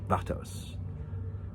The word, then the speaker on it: Vatos: Vatos.